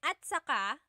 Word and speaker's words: at saka: Okay, and then at saka, technically it's spelled at saka, but when it's pronounced, remember the TS combination, it makes that ch sound. At saka.